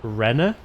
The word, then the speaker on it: Rene: I think it's pronounced Rena, but it's spelled R-E-N-E.